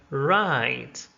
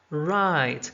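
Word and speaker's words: write: are not pronounced like right right so right is spelled w-r-i-t-e but w is not heard it's not pronounced also knee knee there's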